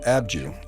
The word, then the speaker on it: Abydos: The site of Abydos is pronounced Abju in Egyptian, which means the reliquary hill.